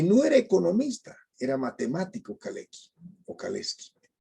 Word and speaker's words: Kalecki: exacta pero en michael kalecki vocales que si pronunciamos su nombre en polaco como él era polaco que no era economista era matemático kalex vocales y había escrito no hagas esto ningún